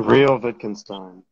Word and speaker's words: Real Wittgenstein: So, real quick, how do you pronounce your name? Real Wittgenstein.